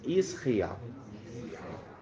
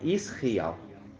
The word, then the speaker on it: Israel: é Israel é isso a gente ouvir a pronúncia certinha Israel né Israel então quando é a terra toda ali vai